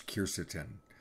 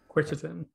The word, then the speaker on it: quercetin: Ken is asking, are there main ingredients that you consider primary, say bromelain, or, and I don't know how to pronounce this, quercetin? Quercetin.